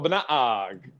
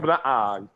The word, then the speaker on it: Banaag: I love his name, Michael Banaag. McBang. He even does it right, like in with Tagalog, with Filipino, like the second syllable has to be pronounced higher. So that's.